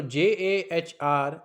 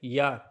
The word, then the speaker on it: Jahr: So Jahr it sounds like yar, that means ear.